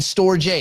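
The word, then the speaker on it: Storj: Oh, is it pronounced storage? The company's pronounced storage, stupid. The token is Store J because there's no AGE, is there?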